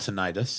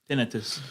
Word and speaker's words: tinnitus: I learned outside that the ringing in your ears is not called tinnitus. It's called tinnitus. Tinnitus. It's pronounced tinnitus.